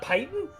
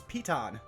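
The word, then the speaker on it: piton: ever oh I wait it's not pyan no it's Pon that's that's stupid stupid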